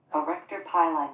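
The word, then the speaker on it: arrector pili: called, and I'm going to let the computer pronounce this so I make sure I do it correctly. Erector pili muscle.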